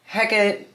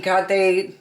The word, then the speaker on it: Hecate: Um and Hecate or Hekate Hekate, however people say it. Hecate to me is the proper way to say it cuz it's a Greek name. That's how you would say it if it's Greek.